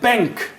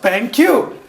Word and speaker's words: BenQ: They changed their name from BenQ small q to big Q because people pronounced it bank. Okay? Because people pronounced it bank. And they wanted to be pronounced BenQ.